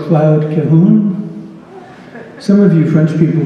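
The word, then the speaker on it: Cahun: Is it Cahoon or Cahoon? Second syllable so tight and small it's not even really there. Cloud Cahoon, a French surrealist, and her partner, Marcel Moore.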